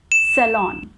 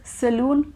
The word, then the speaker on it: salon: caused by dengue virus yes so our last mispronounced word is salon salon now do you also pronounce it as saloon because i definitely used to pronounce it as